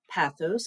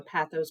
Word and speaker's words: pathos: I teach are logos Pathos and I have heard these pronounced different ways so pathos pathos ethos sometimes I throw to ethos and the one that